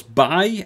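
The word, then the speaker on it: Baille: Starting off at the front, of course, Bay, as I now think it's pronounced, rather than Bale.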